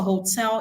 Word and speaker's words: hotel: So why isn't the stress for hotel on the first syllable? Because actually in English the stress for hotel is on the second syllable.